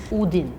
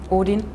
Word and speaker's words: Odin: think it's more o Odin for me it's if it's 2D it would be Odin but like there's only one D so that's why I pronounce it like that we would say Odin